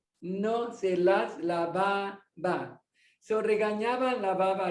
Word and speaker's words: regañaba: The N has a tilde, so the pronunciation is ni. A la garza regañaba.